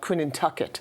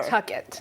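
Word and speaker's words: Quinnehtukqut: The place we now call Connecticut has its name in Algonquin roots, and it's called Quinnintucket. However, Quinnintucket.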